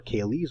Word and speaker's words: QALY: We talked about QALYs or CALYs or CALYs, depending upon how you pronounce them.